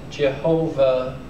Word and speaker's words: Yahweh: would would pronounce it Jehovah depending on how these letters here or this letter here is above some would say it's pronounced V some would say it's pronounced W and then the vowel